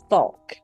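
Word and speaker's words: Fouke: l k no well it's spelled f o u k but it's pronounced it sounds like folk like FAL folk FAL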